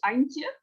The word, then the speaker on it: Antje: I apologize, but it's something like Antje. But please tell us your name and where you're from. Hi, first, thank you for having me here. My name is Antje.